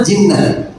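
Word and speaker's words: جِنَّة: Jannah, junnah, jinnah. Kalau melihat tanpa harokat itu hurufnya sama, jim, nun, ta marbutoh. Tapi dibacanya apa nih? Kalau jannah surga atau kebun, junnah pertahanan, perisai, benteng, jinnah jin atau gila.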